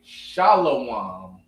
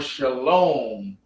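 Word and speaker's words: שלום: I know you might hear people saying shalawam or shalom. Now shalawam and shalom, they're the same. One is modern. Shalawam would be ancient.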